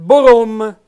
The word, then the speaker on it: bolom: si prendeva la legna il bolom a 100 tonico sulla o sulla seconda o accento fonico chiuso è il tappo della